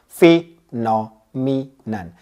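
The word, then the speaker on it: phenomenon: spelling बहुत easy है जैसे मैंने कहा प्रोनाउंस किया फीनो मनन कैसे कहा फीनो मी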